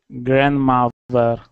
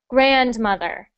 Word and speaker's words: grandmother: good good next one grandmother so when we say that word we put the stress on the syllable the first syllable so we say grandmother not grandmother but grandmother and how do you